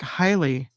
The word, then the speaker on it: Haile: Pronounced like Haile. Oh, is it Haile instead of Haley?